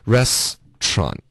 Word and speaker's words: restaurant: 嗯，这个这对地道的 restaurant 的发音就是两个音节了，现在 restaurant.